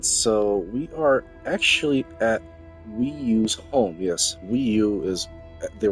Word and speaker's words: Weeoo: Yes, it's pronounced Weeoo as in Nintendo Wii U.